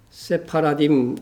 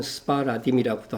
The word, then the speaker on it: 세파라딤: 첫째는 세파라딤 유대인입니다. 발음에 따라서는 스파라딤이라고도 합니다.